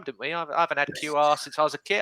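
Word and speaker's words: Kiwior: So, but no, Jakub, I think he's QR is how it's pronounced.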